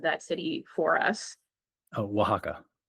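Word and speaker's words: Oaxaca: that you were in Mexico and could you pronounce the name of that city for us? Oh, Wajaka. Wajaka. Wajaka.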